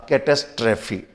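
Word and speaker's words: catastrophe: अगला शब्द देखते हैं और अगला शब्द हमारा के टेस्ट रफी पहले स्पेयरिंग देखकर फिर प्रनंसीएशन देखिए स्पेलिंग है सी ऐड्स पेशेंट हद फॉलो थिस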